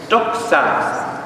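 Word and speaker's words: δόξα: Doxa. D-O-X-A. Remember what doxa is? Let's say very quickly what doxa is. Through him, with him, in him. How many ever heard of doxa now?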